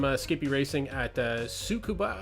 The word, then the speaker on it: Tsukuba: Skippy racing at uh sukua I believe it's pronounced it's got a silent T in there um yeah it's a